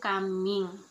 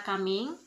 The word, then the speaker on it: kaming: Nah, kata makan bahasa daerahnya yaitu kaming. Nah, tetapi di daerahnya saya pengucapan dan pelafalan katanya itu beda-beda. Nah, masyarakat pesisir mengucapkan kata kaming tetap pelafalannya jelas yaitu kaming.